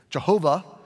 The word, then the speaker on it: Jehovah: Jehovah is sort of the English pronunciation of it, okay?